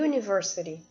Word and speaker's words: university: In university, U é um som de Y, que é Y em inglês. É assim que se fala o Y em inglês, Y. Então, ó, university não é pronunciado o U, certo? É como se a gente estivesse pronunciando com esse Y na frente.